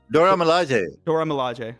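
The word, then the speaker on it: Dora Milaje: other members of the Dora Malia Dora Malai I don't know how how it's pronounced my bad but um and she Dora Malaj. Dora Malaj. Dora Malaj is correct.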